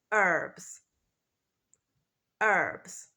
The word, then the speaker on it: herbs: English the pronunciation is herbs herbs so in British English the first letter the H is pronounced we say herbs but in American English the first letter is not pronounced and we say herbs